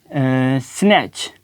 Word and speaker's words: snatch: जैसे हम कहते हैं कि स्नैच, वर्ड है SNATCH। अब देखेंगे टी है ना, टी के फ़ौरन बाद क्या है हुआ है CH, तो हम यहाँ पे इसको प्रोनाउंस नहीं करेंगे।